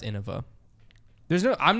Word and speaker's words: Innova: man I think that it's Anova hey if you're listening to this and you're new there's no shame in it but it's pronounced Innova there's no I'm not